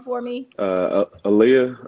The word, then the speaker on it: Alia: for me uh uh Aaliyah Aaliyah like the singer Aaliyah okay okay I was probably gonna say Alaya or something like that